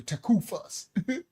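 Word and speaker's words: tekufah: That's how they say it in the Canaanite Hebrew, takufas. You know, takufas.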